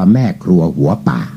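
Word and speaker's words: แม่ครัวหัวป่าก์: นั่น ใส่ ว่า ทำไม เพราะ ว่า การันต์ หมาย ถึง ไม่ ออก เสียง เขา ก็ จะ ออก เสียง ได้ ว่า แม่ ครัว หัว ป่า ทำ ให้ คน ใน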